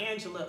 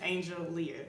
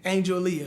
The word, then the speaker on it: Angeleah: It's like Angela or Angeleah, or it's really just Angeleah. Angeleah.